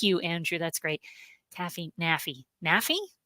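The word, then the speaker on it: NAAFI: a Navy brat, and rhymes with taffy. Oh, thank you, Andrew. That's great. Taffy, naffy, naffy, right?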